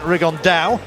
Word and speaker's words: Rigondeaux: That's coming up in about 3 weeks, and Tete's talked about fighting Rigondeaux, or as he's correctly pronounced with the Spanish accent, Rigondeaux.